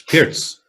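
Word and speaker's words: Pirc: Nashvillian chess is saying now pronounce Pirts. It's Pirts.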